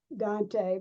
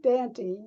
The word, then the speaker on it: Dante: And I was to meet at Dante Head Start Center in Knoxville, not Dante, but Dante. We pronounced it differently.